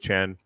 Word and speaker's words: Trang: um with uh with chan um and it's uh yeah it's spelt trang but it's pronounced chan she'll tell you that